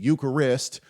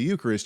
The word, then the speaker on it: Eucharist: are participating in the Eucharist you I put the wrong emphasis on the wrong syllable anyway when you uh when you are participating in the Eucharist you're actually ingesting the